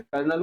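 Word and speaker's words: colonel: लें कोई बात नहीं तो कोलोनल याद रख लेना से कर्नल को कोलोनल नेक्स्ट है कमेटी तो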